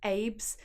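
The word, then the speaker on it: Abbes: name and it's called Abe's and Bailey's spell a BB es so she did specify that it was pronounced more like babes rather than Abby's that's why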